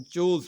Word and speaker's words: chores: तो इसको मैं चोर्स नहीं पढ़ रहा हूँ. चोर्स देखिए अगर आर में प्रोनाउंस करूँगा तो जो अमेरिकन एक्सेंट में आर प्रोनाउंस होगा, लेकिन जब ब्रिटिश एक्सेंट या इंडियन एक्सेंट ब्रिटिश एक्सेंट की बात करें तो आर प्रोनाउंस नहीं होता है. तो इसको हम चोज पढ़ेंगे.